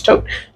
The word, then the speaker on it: Thoth: I say Thoth. Sometimes Tote.